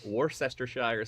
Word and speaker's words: Worcestershire: Tomato juice, shrimp, beer, clamato juice, Maggi seasoning, Worcestershire sauce, and hot sauce. So it's a Caesar but with beer. It's pronounced Worcestershire.